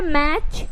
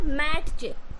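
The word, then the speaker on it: match: glisten उसके बाद है मैच कैच एंड बैच अगर टी उच्चारण करोगे तो क्या हो जाएगा मैट कैट बैट च ऑफ्टन न इस तरीके से तो यह गलत हो जाएंगे आपको टी जो है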